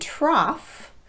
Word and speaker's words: trough: an ow pronunciation and for cough and trough these letters are pronounced off finally we have the